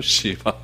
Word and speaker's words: 시바: 들었으면 좋겠습니다 첫 번째 우리 시바라고 하는 인물 발음을 좀 조심해야겠죠 시바 시바라고 하는 인물 한번 살펴보도록 하겠습니다 1절 2절